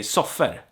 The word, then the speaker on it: soffor: So I would say soffer, for instance, not soffor. Or I would use both interchangeably.